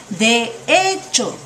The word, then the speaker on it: de hecho: play with the words de hecho ya de hecho de hecho when you pronounce it Fast it Will Sound like most like One Word de hecho de hecho